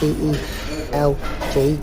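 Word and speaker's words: Celje: The next one is Slovenia side Cel, I think it's pronounced CELG, Cel.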